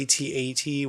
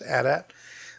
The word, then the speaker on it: AT-AT: It's the AT-AT, which is the wrong way to say it. It is pronounced AT-AT.